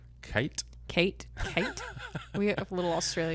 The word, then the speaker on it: Cait: And I've seen somebody go by Kate, and I'm pretty sure they spelled it C-A-I-T. Yep. Mm-hmm. Which is just Kate.